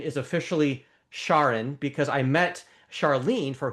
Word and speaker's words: Charon: And and so the uh oh by the way I've learned the pronunciation is officially Shaun because I met Charlene for whom Shaun was named by uh by her husband.